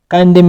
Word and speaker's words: condemn: condemn ویل کېږي غندله. ان نه تلفظ کېږي په condemn کې او په government کې چې ده ان هم نه تلفظ کېږي.